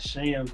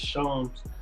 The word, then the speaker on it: Shams: It's not Shams, it's Shams. Shams Corona from The Athletic.